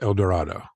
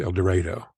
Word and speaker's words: El Dorado: 35 miles Northeast of here which should be pronounced El Dorado it's pronounced El Dorado well our main our main river here is